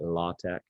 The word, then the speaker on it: LaTeX: way of typesetting documents called latex or if you want to be really pretentious with it you call it law Tech and it's spelled l-a-t-e-x